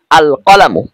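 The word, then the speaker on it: القلم: আলিফ লাম যুক্ত করেছি এখন এটার উচ্চারণ হবে এরকম আল কলামু এখানে কিন্তু লাম হরফটা স্পষ্ট আলাদা উচ্চারিত হচ্ছে আল কলামু কলামু অর্থ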